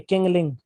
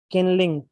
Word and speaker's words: Qinling: ये चाइना की major mountain कहलाती है, किंगलिंग। ठीक है, QINLING। ठीक है, QINLING, किंगलिंग माउंटेन रेंज। ठीक है, किंगलिंग, QINL, किनलिंग, सॉरी किंगलिंग नहीं, किनलिंग, किंगलिंग।